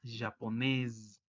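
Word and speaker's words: japonaise: y agarra sonido y como es entre dos vocales se pronuncia como una zeta japonés y en plural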